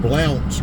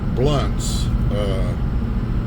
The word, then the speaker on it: Blounts: usually calls this Old Blounts Creek Road because it's spelled B-L-O-U-N-T-S, which looks like it's Blounts, but we pronounce it Blunts, and so for us when they say Blounts, it's just funny.